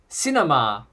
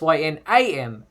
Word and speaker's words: Synmar: this new villain, because in the solicitations it's spelled Synmar, Sinmar or Signmar. But then Bendis in a quote calls him Cinemar. So it's Synamar.